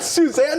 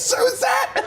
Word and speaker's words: Suzette: She goes, it's not Suzanne, it's Suzette.